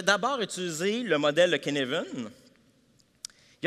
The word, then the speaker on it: Cynefin: Puis là, ceux qui sont très familiers avec le modèle de Cynefin, parce qu'en passant, ça s'écrit Cynefin, mais ça se prononce Cynefin, OK?